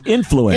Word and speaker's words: influence: The emphasis is on the first syllable. It's influence. Influence, yeah. It's not influence, yes.